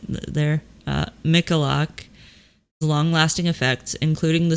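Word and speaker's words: Michalak: journal for scientific exploration states that some of michalex yeah I totally said his name wrong there uh mikalak long lasting effects including the skin lesions which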